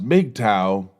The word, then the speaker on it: MGTOW: as M GTO W what is M GTO W pronounced make tau mgtow stands for men